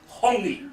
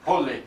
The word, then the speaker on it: hongi: Now, the name for that, a very important traditional activity, it's called hongi. Hongi. You say hongi. Let the two chiefs. Hongi. Holy.